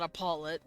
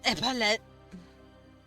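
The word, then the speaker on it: epaulet: It's like a little bulb on the top of his E epilelet, however you say it. Apparently I say it wrong. It's not Apollo. It's epolet.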